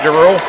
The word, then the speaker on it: Giroux: I think if you pronounce that name like the Giroux around here pronounce it, I think you'll be pretty close, Bill. Okay, we'll say Giroux.